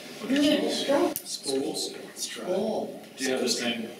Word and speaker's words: Spoelstra: Stolt? Yeah, right. Yeah, Spolstra. Spolstra.